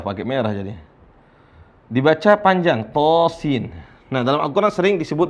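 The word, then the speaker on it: طس: Dibaca panjang, to sin. Nah, dalam Al-Quran sering disebut begini. Cara bacanya adalah to sin. Baik. Bisa dilihat, perhatikan to-nya dibaca 2 harokat saja.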